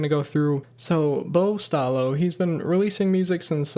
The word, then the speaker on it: Staloch: artist's name is Bo Stalo. Uh, Bo is just B O, and then Stalo is actually S T A L O C H, but again, pronounced Stalo according to the Spotify bio.